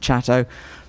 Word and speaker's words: Chatto: I think you should pronounce it Chato, actually, but everyone seems to pronounce it Chatto.